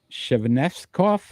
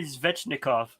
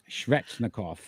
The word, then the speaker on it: Svechnikov: I always Oh, say his name wrong. Natchez. Nikas. Natchez. Natchez. 39 points. Shevnevskov, Andrei Sheveknov. I knew it. I can't. 19 goals. Go ahead. You could correct that one. Andrei Svechnikov. Svechnikov.